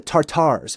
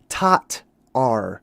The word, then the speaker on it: Tatar: So, we're trying to figure out the tartars. Well, we figured out that it's not tartar. It's actually tatar or tat, I should say. That's really a little bit better of a pronunciation.